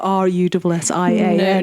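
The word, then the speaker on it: Rushen: isn't the fact that it's Russian spelt with a W or R-U-S-S-I-A-N. No, it's Russian parish, S-H-E-N.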